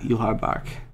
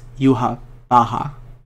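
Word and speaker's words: Yhwach: No, it's not Yuhar bark. No, it's not. It's Yuha Baha. Because it's a Japanese pronunciation, or like a Japanese appropriation of the German way to say the Jewish god's name.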